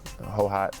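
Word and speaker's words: Hohhot: went to in Mongolia hoat that's what they how it's pronounced so I spent about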